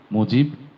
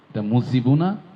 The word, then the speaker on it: মুজিব: সেক্ষেত্রে যদি জিম হয় আরবি শব্দ তাহলে বর্গীয় জর উচ্চারণ হবে নিঃসন্দেহে। মুজিব জিয়া। মুজিবুনা জিয়াওনা। সুতরাং এটি বাংলা বর্গীয় জ মুজিব জিয়া মোহাম্মদ রায়হান আশা করি